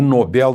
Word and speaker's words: Nobel: É o prêmio mais importante do planeta Terra, o Nobel da Paz. E atenção à pronúncia lá na Suécia é Nobel. Nobel é uma pronúncia da língua inglesa, mas lá na Suécia a língua é o sueco, né?